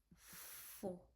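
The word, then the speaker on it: faux: It become four. F a u is like o. So it become four.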